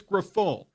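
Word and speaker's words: Grifol: It's Griffol. Pedro Griffol. Yeah.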